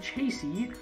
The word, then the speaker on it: chassis: The next thing you're going to want to make is the simple machine chassis. I found out that the third S is silent.